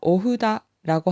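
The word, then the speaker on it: お札: 묻혀서 돈을 의미하는 어사츠로스입니다 오를 짧게 발음해서 오후다라고 하면 부적이 되지만 올을 두 번 바르면서 5호다라고 5가 길게 들리는 듯이 발음을 하면 큰 팻말이라는 뜻이 되니 발음의 주의해 주세요 일본어로 부적을 의미하는 단어에는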